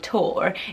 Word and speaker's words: Tor: very cool name it sounds a little bit like Thor which is a bit maybe pushing it out there a little bit so reining in with tor is really nice I